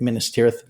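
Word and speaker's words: Minas Tirith: Minister.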